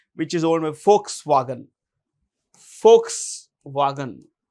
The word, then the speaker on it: Volkswagen: Volkswagen. Volks. It's pronounced with an F. It's not Volks. What is it?